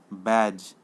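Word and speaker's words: badge: बैज, इसमें D का ये नहीं हो रहा, BAGE यूज़ हो रहा है, D साइलेंट है।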